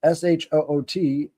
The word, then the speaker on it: Shut: So they called it the Shut, pronounced Shoot, to be another part of a person's soul.